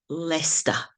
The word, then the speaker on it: Leicester: is pronounced Lincolnshire this is the University of leester that's how it's pronounced and the county is lestershire so there